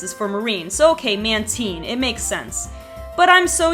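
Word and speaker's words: Mantine: it any other way man teen is another one that I only just recently found out I always said man tyne but apparently because the man and man teens name is for manta ray and the teen is for marine or the e and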